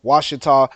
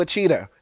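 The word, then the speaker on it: Ouachita: and I hail from Wasa Parish some people read it and see oh you a cheah but no that's not how it's pronounced it's pronounced was named after the indigenous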